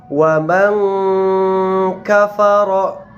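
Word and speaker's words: وَمَنْ كَفَرَ: Contoh berikutnya, wa man kafara. Wa man kafara. Nah, cara membacanya adalah menyamarkan daripada bunyi nun sukun karena dia berhadapan dengan huruf kaf.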